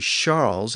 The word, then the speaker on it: Charles: softer over time and today it's pronounced as an sh sound in French so Charles is actually Charles in modern French and since English has